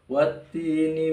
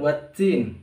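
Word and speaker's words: والتين: minas syaiton nirojim Bismillahirrohmanirrohim watini wazaitun watini wazaitun untuk What tim ini terkadang sebagian kaum muslimin membacanya dengan waddin ya ini malah keliru karena Hai dusta testi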